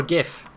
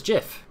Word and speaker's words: GIF: is it Jif or gif right and the correct answer is jiff because the guy who made it said this is how you pronounce it and if the